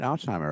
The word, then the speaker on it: Alsheimer: this week in pinball Colin Alzheimer am I saying that right Alzheimer right Alzheimer Alzheimer yeah it's very very close and very used to